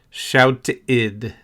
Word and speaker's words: shouted: Walked, played, shouted. Walked has a t sound. Walked. Played has a d sound. Played. In addition, shouted has an id sound. Shouted. If you practice these 3